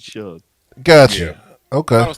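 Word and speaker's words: Shough: His name is pronounced Shug. Tyler Shug from Texas Tech, who is pretty decent. Is it Suge?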